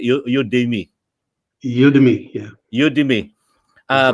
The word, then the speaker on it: Udemy: Udemy, yeah.